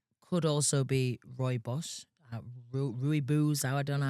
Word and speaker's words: Rooibos: Could also be Rooibos. Rooibos, I don't know how you say it, but it's Oh, posh. Rooibos. Rooibos. Yeah, that's yeah. It's spelled funny. Yeah. Roy Bush.